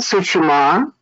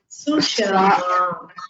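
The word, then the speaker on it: सुषमा: Isha Sushma. That is intelligence. Pronounce Sushama.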